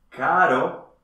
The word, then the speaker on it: caro: Mit zwei ähnlichen, aber verschiedenen Aussprachen. Oder? Genau! Caro, teuer, ist nicht dasselbe wie carro, Auto.